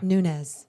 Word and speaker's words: Nunes: Nunez.